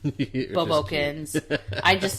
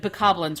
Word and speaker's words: Bokoblin: I know I say it wrong all the time. Bobokins. I call them Bobokins. But bokoblins, right?